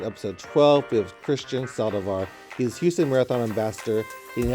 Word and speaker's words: Saldivar: Yeah, Saldivar.